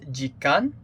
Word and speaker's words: 時間: it means time and i think it is pronounced jikkan so time that cover